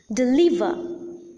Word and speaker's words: deliver: committee deliver committee deliver there are three syllables and the middle syllable or the second syllable is the most prominent syllable and hence the second or the middle syllable is the stressed syllable in these two words let us take a